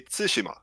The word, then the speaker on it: Tsushima: pronounce ghost of what so the natives in Japan they say Tsushima so it's kind of like intonation start I but I'll